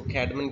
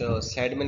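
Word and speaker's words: Cædmon: वी do call it, कुछ लोग इसको कैडमन कहते हैं, इसको कुछ सेडमन कहते हैं। सो वट एवर आप नाउन है, किसी भी तरह आप प्रोनाउंस कर सकते हैं इसको, ये तो उसका मैनुस्क्रिप्ट यानी उसने लिखा है।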